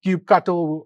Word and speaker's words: kubectl: You can run the normal CI with kubectl, cube cuddle, however you want to pronounce it, and you run that on your admission controller.